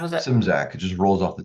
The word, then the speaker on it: Szymczak: name Mike how does that how does that simsack it just rolls off the tongue nice Mike